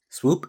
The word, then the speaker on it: Spw: Swoop is spelled Spw.